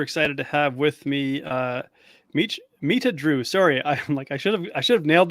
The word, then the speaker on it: Mitradu: For some reason, I want to shift the R to and say Mitradu. I don't know why. So yes. So what would be the correct pronunciation of your name? It's Mitradu. Okay, Mitradu.